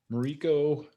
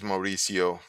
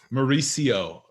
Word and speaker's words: Mauricio: online summit coaching so mariko is am i saying it right is it rico it's like an s sound at the answer is mauricio mauricio excellent mauricio mariso thanks